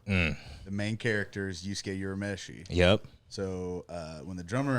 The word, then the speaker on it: Urameshi: and one of the bands kept calling us Urameshi or something. What? I was like, that's butchered, man.